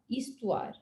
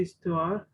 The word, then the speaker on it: histoire: Yun, so don't try to pronounce the H, Tanmay, because that's where it's always silent. So yun, assume it's starting from I.